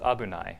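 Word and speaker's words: 危ない: Thankfully, the game has provided abunai. It's pronounced abunai, and here it's actually just it's conjugated abunaku naru to, which is like if it becomes or when it becomes unsafe.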